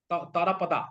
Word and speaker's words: Tarapada: So let's bring in that Bengali थोड़ा सा उसके अंदर, okay?